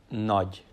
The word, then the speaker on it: Nagy: So this G and Y, it's pronounced together, G. So it should be pronounced as Nagy. Ádám Nagy.